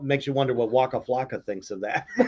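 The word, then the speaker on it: Flacco: Do you know that actually his name is not pronounced Flake? Yeah, it's Flocka.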